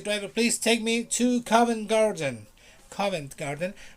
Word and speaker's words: Covent Garden: covent garden comment garden you don't pronounce the t usually people from london don't pronounce the t they just say coven garden and not covent garden if you pronounce the t is not wrong but people will look